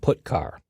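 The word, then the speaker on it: putchar: i o functions are git car and put car that's how i pronounce them git car fetches a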